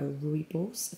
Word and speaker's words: rooibos: i'm also having um a rooibos that's how you say it tea which is one